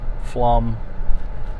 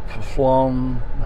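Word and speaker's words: Pflumm: some people struggle with i think it's hilarious flum and some people look at it spelled p-f-l-u-m-m i believe and people look at it and go phloem what plum how do you say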